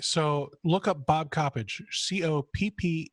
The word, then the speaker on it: Coppedge: a really dumb question I've always called you Bob Coppedge but somebody recently pronounced your last name Coppage it's garbage okay so all right so look up Bob Coppedge Copp e DG e